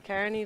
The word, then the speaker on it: Kearney: Or do you pronounce it Carney down here? Oh, I think, yeah, I'd say Carney, but Carney, yeah.